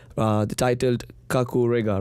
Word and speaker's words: Kakurega: stage performance stage performance right uh the titled Kaku Riga right yep do you pronounce it right yeah kakure is actually a